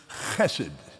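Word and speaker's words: חֶסֶד: That word, properly pronounced, is chesed.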